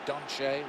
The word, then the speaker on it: Dante: forward manchester's challenge and we stand corrected on his pronunciation of his name dante donche we are told so we'll make a